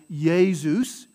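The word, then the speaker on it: Iesus: it right it sounds like the consonant y in english right so ya a ya sound right yey zeus jesus not jesus jesus so not a jaw sound but a ya sound so that soft y right like you're or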